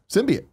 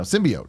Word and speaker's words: symbiote: it upsets you want to hear it said symbian this is how it's spelled yeah there's an Owen sim by oh hey I understand that but it's been me I'm getting really confused now symbiote its symbiote that's what it was Symbian sim